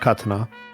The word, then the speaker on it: katana: It's pronounced katana.